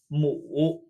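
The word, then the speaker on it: 母: the character for mother pronounced mu mu like tree but with a dipping tone mu now we've learned another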